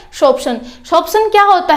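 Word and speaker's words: sorption: इसको देखो बहुत से बच्चे इसको सोरोप्शन बोलते हैं, लेकिन ये सोरोप्शन नहीं है, यहाँ पर प्रोनाउंसिएशन भी मैंने लिखी हुई है, ठीक है। क्या है ये, शोप्शन।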